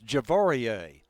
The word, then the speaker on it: Javari: Okay, and incidentally, I asked about this pronunciation. This is unusual here. This is Javarie.